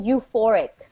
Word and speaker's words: euphoric: This is called feeling euphoric. Okay. The E is silent, so we say euphoric.